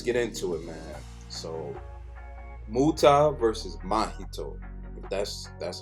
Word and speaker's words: Muta: But my Muto, oh, I'm saying his name wrong. Muta, his ability is like a little bit strange to me.